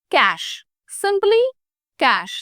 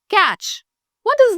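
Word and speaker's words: cache: oral exam number 14 pronounce this word as कैश सिंपली कैश द वे you pronounce C ए एस एच कैश सिंपली सी ए सीई इज ल pronounced as कैश नॉट कैच व्हाट इज the meaning of द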